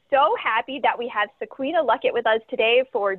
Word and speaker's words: Sequena: It's like Sequina. That's how you pretty much pronounce it. I always tell people it's like Sabrina with a Q, so it's easier to pronounce for people.